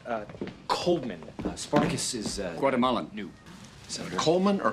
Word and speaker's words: Coleman: Coleman uh Coleman uh Spartacus is Guatemalan new Coleman or coldman Coleman the D is silent you have a very forceful handshake Mr